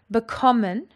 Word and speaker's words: bekommen: Bekommen has got its emphasis on the second syllable.